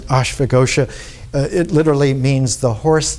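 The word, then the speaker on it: Ashvaghosha: named ashfa ghosha and in sanskrit when you pronounce it ashfagosha it literally means the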